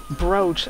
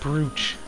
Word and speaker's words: brooch: Your ring, brooch. I learned that's pronounced brooch. I always called it brooch. Yeah, it's brooch.